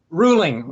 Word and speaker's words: Ruhling: pronounce your last name is it Ruland ruling uh like a ruler with h is silent r u h l i n g got it Dr